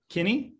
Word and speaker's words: Kinney: and um today uh we have brian uh kinney is that your last name i pronounced it right yes uh brian is a